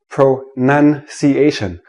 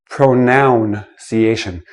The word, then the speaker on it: pronunciation: Let me start with this word, pronunciation, not pronunciation. It is not a pronoun.